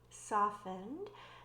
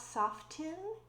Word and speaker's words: soften: Soften, softened. Notice that the T is silent. It is not soften, it's soften, softened.